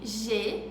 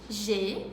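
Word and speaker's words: j'ai: A com I em francês tem um som de E, como em G, que significa eu tenho, G.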